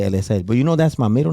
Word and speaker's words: Eliezel: Now, don't kill me on the pronunciation. Eliezel. Eliezel, yeah.